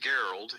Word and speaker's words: Gerald: It's like Gerald, only it's pronounced Geralt. G- R A L D.